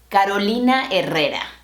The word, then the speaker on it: Carolina Herrera: This fashion designer from Caracas, Venezuela's name is pronounced Carolina Herrera. Carolina Herrera. Not Carolina Herrera. A new feminine fragrance by Carolina Herrera.